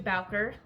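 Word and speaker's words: Bowker: you have to go through Baler I think that's how it's pronounced b b o w k e r um and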